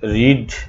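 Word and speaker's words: read: বসবে, বি এর সাথে রিড ভার্বের পাস্ট পার্টিসিপল রেড হয়ে যাবে, উচ্চারণ হয়ে যাবে রেড, কিন্তু বানান একই থাকবে, রিড আর ইএডি রিড, কিন্তু উচ্চারণ হয়ে যাবে রেড, এটা তোমাদেরকে মনে রাখতেই হবে।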